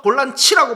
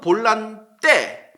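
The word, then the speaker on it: volante: 자 그냥 포트가 아니에요 브라질 포르투갈어에서 볼란 치라고 발음을 해요 요건 수비형 미드필더가 맞아요 근데 스펠링이 똑같은데 스페인어 거에서는 볼란 때 볼란 때라고 발음을 하는데 이건 수비형 미드필더가 아니에요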